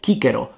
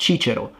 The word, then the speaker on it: Cicero: And how do we know that the C in classical Latin was always pronounced like a K? So it's Cicero, not Cicero, Caesar, not Caesar, Centurio, not Centurio. You get the point.